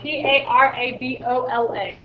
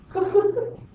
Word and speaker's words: parabola: P A R A B O L A. Huh? Parabra. It's parabola.